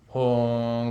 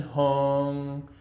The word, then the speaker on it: hung: Hung, like the sound turns on, and then all